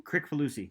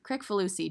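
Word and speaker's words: Kricfalusi: John how do you say his last name Crick for Lucy Crick for Lucy John correctful Lucy the creator of red and Stimpy um and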